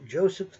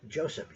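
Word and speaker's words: Josip: was the head of the government there, was Joseph Tito. Now, I said Joseph. That's how we pronounced it here in the United States and probably most of Western civilization, that is Western Europe.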